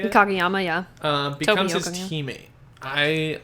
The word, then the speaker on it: Kageyama: Kageyama, yeah.